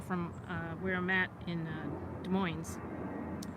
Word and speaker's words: Des Moines: where I'm at in Des Moines and we pronounced the Z at the end it's just the way